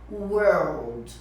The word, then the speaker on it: world: a gente não tem português então você vai pronunciar World você colocar em inglês então se o elenco